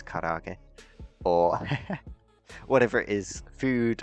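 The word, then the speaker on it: 唐揚げ: By the way, it's karaage.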